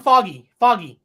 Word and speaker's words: Feige: Kevin Feige. Kevin Foggy. Oh, that's how you say it.